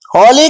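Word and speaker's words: holy: View से देखेंगे होली होली का मतलब होता है पवित्र इसको हम पढ़ते हैं होली एट साइलेंट रहता है।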